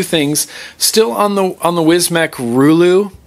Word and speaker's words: Rulu: Still on the Wizmec Rulu. I'm pronouncing it correctly now, Jabo. The Rulu.